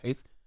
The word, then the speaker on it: HEIS: Heis is Heis. Heis. He is. He is. But I just put together.